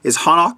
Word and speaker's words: Hanak: It's the brand is Hanak. It's spelled H-A-N-A-K.